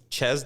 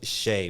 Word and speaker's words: Chez: most people think it's chess Dante because it's spelled c-h-e-zed or Z if you live in America um but it's actually pronounced Shea because it's French right so in French